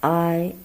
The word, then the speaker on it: ai: Actually, it's a combination of ah and E, but you shorten distance between these two pronouns.